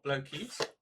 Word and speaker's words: Blokees: I imagine that's how they want it to be pronounced, blokes or Blokees.